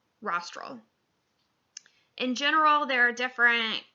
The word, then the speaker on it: rostral: rostral versus caudal is rostral rhymes with nostril rostral means towards the head your nostril is on your head so rostral nostril um similarly uh you